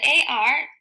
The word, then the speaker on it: are: AR AR AR AR the AR that's above the R word so it says AR and the e is silent our a sentence we